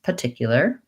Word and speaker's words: particular: think it's easier and might sound more american to use particular particular rather than particular so that's one way to make it a little easier is to eliminate that first r sound and in some of